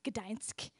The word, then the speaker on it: Gdańsk: And it was a city they call Gdańsk, is how you say it.